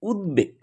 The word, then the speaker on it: উদ্বেগ: তো এই উদ উপসর্গ যোগে গঠিত শব্দের দ এর সঙ্গে যদি বফলা থাকে তবে তা স্বাভাবিকভাবেই উচ্চারিত হয়। অর্থাৎ সেখানে বফলা উচ্চারিত হয়। যেমন উদ্বেগ উদ্বেগ শব্দটি কিন্তু এসছে